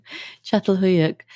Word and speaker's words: Çatalhöyük: pronounce the name of it. There's a lot of accents on almost every letter. Çatalhöyük.